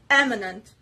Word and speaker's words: eminent: the third word eminent eminent this dress is obviously on the first syllable and it is related